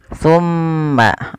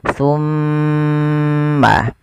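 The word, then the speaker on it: ثم: Cara membacanya ditahan suara mimnya. Tumma.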